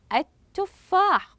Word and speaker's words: التفاح: كما في كلمه التفاح اذا الكلمه التي امامي تنطق التفاح قمت بكتابه اللام الشمسيه ولكن لا اقوم بنطقها الحرف الذي اتى بعد